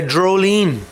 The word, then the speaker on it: Dreolin: We figured out that the Dreolin is Droline. That's how it's pronounced. Droline. Droline is a rain in Irish or something.